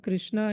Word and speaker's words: Krishna: The word Krishna is explained in the scriptures as Krishir Bhuvachako Shabdo Nascha Nipritti Vachakam Tayoraikyam Parabrahma Krishna Ityavidhiyate. So the word Krishna has two syllables, Krish and Na.